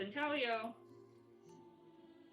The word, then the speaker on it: intaglio: of one more traditional one is called intelio and we say Phoenix the way it's spelled is like intaglio um and so if